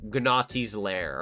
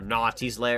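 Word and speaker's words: Gnawty's Lair: Very Gnaughty's Lair. Or Naughty's Lair. It's not Gnaughty, I'm sorry. It's just Naughty's Lair. Very Naughty's Lair. The G is silent.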